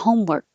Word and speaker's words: homework: the same thing homework you're not going to hear the k if i'm just saying it at the end of the sentence i have a lot of homework homework my tongue goes to the k position and stays there but if there was a